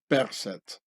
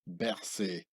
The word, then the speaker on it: Berset: I'll continue to pronounce his name of the Swiss runner health minister in the original pharaonic way of Berset, and not like the French camouflaged pronunciation Berset.